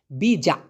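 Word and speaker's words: bijak: Malaysian ভাষায় বলতে পারেন বিজাক বিজা এখন ওই ক টাকে যে ঠেসে ধরতে হবে এমন না বিজা এরকম বলার দরকার নাই ওরা লাস্টের ক থাকলে টি থাকলে এগুলো খুবই অস্পষ্ট করে উচ্চারণ করে এজন্য হবে বিজা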